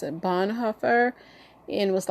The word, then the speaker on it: Bonhoeffer: His name is, I think you pronounce it Bonhoeffer.